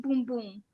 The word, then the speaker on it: Bum Bum: and i'm just gonna say one thing it's pronounced boom boom boom boom boom boom means but in portuguese